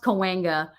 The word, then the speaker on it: Cahuenga: It's pronounced Cahuenga.